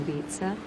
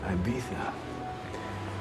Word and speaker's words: Ibiza: His wife's in Ibiza. She left her diamonds behind, though. Worried they might get stolen. It's pronounced Ibiza.